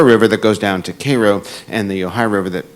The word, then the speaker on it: Cairo: Now, in Cairo, Illinois, it's spelled like Cairo, but they pronounce it Cairo.